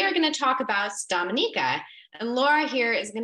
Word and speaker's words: Dominica: still a lot of people who don't know Dominica but um often getting mixed up with the Dominican Republic you see the orange star on the